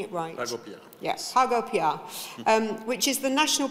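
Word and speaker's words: PagoPA: at pigo am I saying it righto yes pgo um which is the national payments platform in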